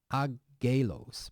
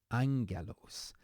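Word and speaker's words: ἄγγελος: it means praise and then here it's not agos but Angelos and I know we haven't come across this letter yet the important part is just this beginning here Angelos and this means messenger or we also know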